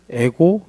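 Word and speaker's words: ἐγώ εἰμι: 기쁘신 분이 그러니까 그거를 에고 이걸 에고라고 읽거든요. 에이미. 에고는 뭐냐면 영어로 i. 미는 M 이거예요.이 방식으로 썼는데 이게이 방식이 어디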